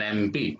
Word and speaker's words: MP: An MP. An MP. How do you pronounce this word MP? M. A. It begins with the vowel sound A.